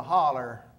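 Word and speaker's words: hollow: the head of a holler in Rton, Tennessee. That's spelled H O L L O W. Holler. My grandfather's name was Will Herod Brim.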